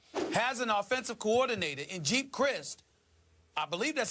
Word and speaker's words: Geep Chryst: Kaepernick the quarterback has an offensive coordinator and Jeep Crist I believe that's how you pronounce his name JD's GEEP Chryst you got it well he was the quarterbacks